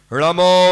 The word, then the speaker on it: णमो: श्वेतांबरों में नमो और दिगंबर में णमो। णमो श्वेतांबरों में नमो, दिगंबरों में णमो। ऋणा का ही उच्चारण करना, जल्दी जल्दी में नमो नमो कर दिया तो अशुद्ध हो गया।